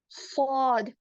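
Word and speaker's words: ص: सॉद का क्या है, इसको प्रोनाउंस करते वक्त भी हमारे ऊपर के और नीचे के दोनों दांत टच होते लेकिन सॉद को हम लोग भारी पढ़ते हैं। सॉद, सॉद।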